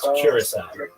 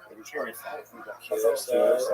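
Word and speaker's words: Curaçao: How do you say It's Curacao. Curacao, right.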